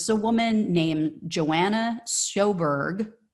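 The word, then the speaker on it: Sjoberg: a woman named Joanna soberg soberg zberg um not sure how you pronounce it I think the J is silent and she is the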